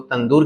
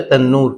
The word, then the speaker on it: تنور: روٹیاں لگائی جاتی ہیں، جس کو ہم لوگ تندور کہتے ہیں، لیکن صحیح اس کا تلفظ ہے تنور۔ تو ایک تنور میں